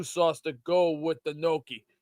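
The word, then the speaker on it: gnocchi: Beast, do you make Noki or Nochi? Noi. It's Nochi, right? It's pronounced Noki before. It's very Is it Noki or Nochi? I think it's Noki. I think I was right. Noki is Italian.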